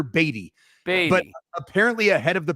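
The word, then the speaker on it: Badie: pronunciation sheet no no the pronunciation sheet provided by the Denver Broncos is batty Tyler batty but apparently ahead of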